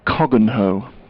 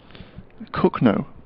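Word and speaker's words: Cogenhoe: far from Northampton and it's built cogginhoe I don't think it's pronounced so it's pronounced it's spelled c-o-g-e-n hoe you're sorry that's a tricky one isn't it I'm presuming one of the consonants isn't sounded in some way kogo cook no cook no cook no yeah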